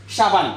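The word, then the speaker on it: sabun: আমরা বাংলা ভাষায় এটাকে সাবান বলে থাকি তুর্কি ভাষায় কিন্তু এটাকে সেম ঠিক সেম বাংলার মতই সাবুন বলে উনারা আমরা বলি সাবান উনারা বলে সাবুন জাস্ট উচ্চারণটা একটু পার্থক্য আরেকটু যদি আমি আপনাদেরকে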